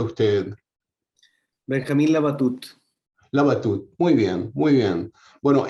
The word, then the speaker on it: Labatut: empezar por pronunciar bien su nombre como lo pronuncia usted benjamín labatut labatut muy bien muy bien bueno he encantado de